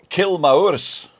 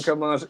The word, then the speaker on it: Kilmaurs: Is it Kilmaurs? Kilmaurs. We live in Kilmars, East. Kilmars, East Kilmars. Ayrshire. Okay, not Kilmaurs.